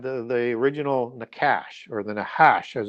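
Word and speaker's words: נחש: But also you had the original Nash or the Nahash as it's pronounced in Hebrew which is that serpent that's mentioned in the Bible who deceives Eve.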